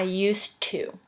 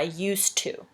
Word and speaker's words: used to: used the bathroom but in english for some reason we pronounce it with like a t at the end instead of a d when it's next to this two i used to kind of like you